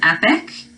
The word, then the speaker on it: epoch: dis own something number six this word is epic it's spelled not like how you would think I